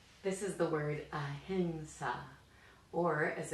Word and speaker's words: ahimsa: This is the word ahimsa, or as it's sometimes pronounced, ahimsa, more commonly in fact.